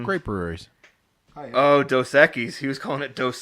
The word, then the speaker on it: Dos Equis: Oh, Dos Equis. He was calling it Dos Equis. Dosaki's?